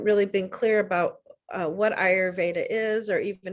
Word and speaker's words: Ayurveda: ayurveda is pronounced and an easy way to remember is I your Veda and it's a Sanskrit